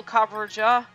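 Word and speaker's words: Copperajah: right if i pretty much need to hello copperjaw no really that's how it's pronounced where are you exactly oh i forgot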